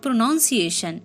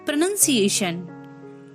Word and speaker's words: pronunciation: next one is pronunciation it's not pronunciation it's pronunciation pronunciation a good pronunciation adds